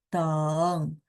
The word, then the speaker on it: 等: nada tiga ya. Jadi kalau nada tiga tunggal, ini biasanya saya sebutnya tunggal, sehingga dia bacanya full, sama. Pokoknya aturan nada tiga kalau full harusnya begitu. Ya, teng.